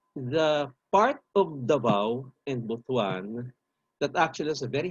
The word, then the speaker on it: Butuan: I'm sorry, I have to keep on using Butuan as an example just to impress upon the people from Luzon that you pronounce it Butuan. Okay? Don't pronounce it like you read it kasi ibang ibig sabihin yan sa Bisaya, which is our national language.